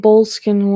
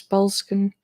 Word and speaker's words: Belskin: I kept saying Bolskin when it's Belskin.